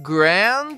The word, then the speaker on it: grand: A pronúncia dessa palavra é fácil, pois já aprendemos a pronunciar as duas palavras que a compõem: grand soa como grand, sendo necessário enrolar a língua na letra R.